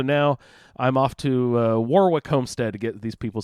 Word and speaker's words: Warwick: is Association is he Warwick Davis or Warwick Davis he's English yeah so I don't think he pronounced w yeah but is it written and just not pronounced is that how that